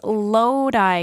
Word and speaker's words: Lodi: Dear Tom Gilby, it is Lodi, California. It is spelled L-O-D-I, but it is pronounced Lodi, California.